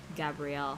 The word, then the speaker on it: Gabriel: Gabrielle, however the fuck you pronounce it.